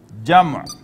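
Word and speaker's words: جمع: Pronunciation is wahid, muthanna, and jama, plural.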